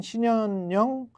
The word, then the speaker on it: 신현영: 근무를 중단하기로 했다고 하는데이 상황 관련해서 의사 출신인 신현영 더불어민주당 의원은 어떻게 보시는지 보셨습니다 안녕하세요 안녕하세요 반갑습니다 제 이름이 좀 어렵죠 발음하기가 신현영 예 예 현영 현영 예 자연스럽게